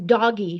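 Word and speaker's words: DOGE: We are pronouncing D-O-G-E as doggy from now on.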